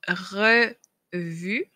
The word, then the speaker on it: revue: Donc, le E qu'on va retrouver souvent en fin de mot et qu'on ne prononce pas. C'est le cas du E dans le mot revue. Donc, revue, j'ai deux E.